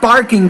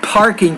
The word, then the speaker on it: parking: Now when you say not barking ticket, but parking ticket, you need to pronounce that P with more air.